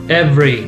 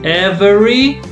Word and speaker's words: every: This one, every. Two syllables. Yeah. So nobody says every.